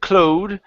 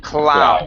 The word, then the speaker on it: cloud: and this word here instead of Cloe the word is ow cloud cloud cloud good he